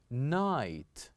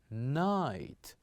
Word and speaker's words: night: word the word is night night say after me night so here we kept G and H silent and we pronounced the other letters night the other word